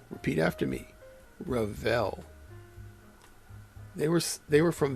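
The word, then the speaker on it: Revell: Rall. And that, by the way, is how it's pronounced.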